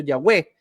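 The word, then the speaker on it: Yahweh: nombre de Dios impronunciable nadie sabe cómo se pronunciaba aunque muchos le dicen que lo más posible es que haya sido yahwe pero los judíos no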